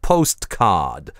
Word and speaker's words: postcard: Скажем на youglish для postcard, всего 2-3 случая на сотню, кто выговаривает там настоящее /t/ как postcard. Но они есть. А остальные примерно 40/60, либо /t/ выпадает совсем, либо оставляет на месте себя гортанную смычку или произносится без релиза.